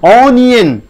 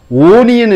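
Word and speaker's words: onion: ஆனியன், ஓனியன் என்று சொல்லுவதில்லை, யானியன் இல்லை ஆனியன். அந்த ஆனியன் ஒய் ஓ என் ஒய் இங்கே மறைந்திருக்கிறது.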